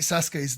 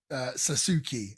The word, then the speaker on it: Sasuke: They got Great Sasuke's name wrong for this whole entire show. All of them were calling him Sasuke as opposed to Sasuke. I guess the U is silent, but I thought that